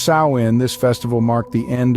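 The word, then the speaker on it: Samhain: the Kelts celebrated a festival known as samhan pronounced sa in this festival marked the end of the harvest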